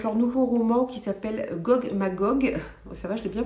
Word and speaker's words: Gog Magog: plutôt engagée, avec leur nouveau roman qui s'appelle Gog Magog, ça va, je l'ai bien prononcé, de Jeff Noon et Steve Beard.